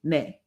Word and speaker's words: ne: For example, the word yes is spelled, we would call it N-E, nay.